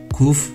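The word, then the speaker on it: קוף: 쿠프, 쿠프, 쿠프, 쿠프. 가운데 점 여부에 따라 카프나 하프로 발음되는 카프와는 달리 이 발음은 어떤 상황에서도 항상 키읔 발음을 냅니다.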